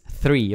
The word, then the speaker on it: three: three three different Services sorry for my pronunciation of the number three because I pronounce it like like the tree like the nature tree but is three okay it's difficult for